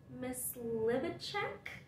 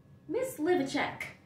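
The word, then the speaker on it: Mysliveček: It is by Mozart, and Mozart was actually influenced by a Czech composer, Josef Myslivicek.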